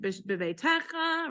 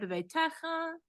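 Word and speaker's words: בְּבֵיתֶךָ: Beveitecha, right? Beveitecha, not beveitecha, right? So sometimes you'll have it happen where the syllable stress, so you just have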